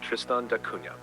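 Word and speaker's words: Tristan da Cunha: you pronounce it sure thing OD it's called tristand Duna pronounced tristand it's named after the Portuguese explorer Tristan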